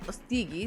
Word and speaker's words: Ostiguy: Ahí lo ven, Pierre Ostigui, se pronuncia su apellido, politólogo y, como decíamos, además